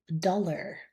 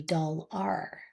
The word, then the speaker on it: dollar: Another example would be dollar. That is spelled AR, so we would think it would be doll-R. But once again, we're lazy when we speak, and we tend to go for what's easiest, and it's much easier to